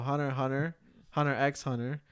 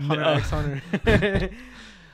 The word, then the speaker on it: Hunter x Hunter: The creator of Hunter x Hunter. Stop this. You don't pronounce the X.